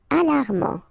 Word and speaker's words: alarmant: Alarmant, final T not pronounced.